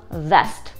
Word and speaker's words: vest: И первое слово vest, а второе слово west.